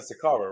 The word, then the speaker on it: Saqqara: Saqqara, right? That's how you say it. I think it's in Saqqara in Egypt, in Cairo. The step Sakara?